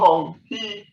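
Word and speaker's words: Huang He: You'll see the Hong-He, it is pronounced Hong-He, Aka Yellow River.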